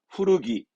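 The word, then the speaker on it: 古着: 후르기, 오래 입었던 거, 즉 헌옷을 후르기 하는 거죠.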